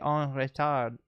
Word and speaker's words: en retard: Je suis en retard. En retard. Let me pronounce it correctly. You swallow the D, so en retard.